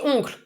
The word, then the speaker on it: oncle: Tante et oncle are not easy to pronounce, actually. Oncle, I'm sick, but the nasal sound is there anyway.